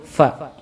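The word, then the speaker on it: ف: Yang pertama adalah huruf fa. Ini dari bibir. Cara membacanya, huruf fa ini keluar dari bibir bawah bagian dalam yang bertemu dengan ujung gigi seri bagian atas.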